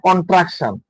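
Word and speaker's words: contraction: কন্ট্রাকশন আছে, উচ্চারণটা হবে কন্ট্রাকশন। হ্যাঁ, after pen ইজ এ কন্ট্রাকশন।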